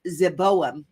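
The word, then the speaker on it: Zeboiim: it is adma and zavaim which is zeboam that's how you say it in Hebrew which Yahweh overthrew in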